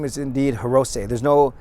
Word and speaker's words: Hirose: last name is indeed hirose there's no it's not Hiroshi it's not Heros it's hirose as SE in Japanese is pronounced say so Akito hirose he